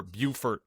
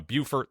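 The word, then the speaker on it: Beaufort: So it's sort of like the Buffer Bufort North Carolina South Carolina debate. You know North Carolina Buffer South Carolina Bufort. They're spelled exactly the same.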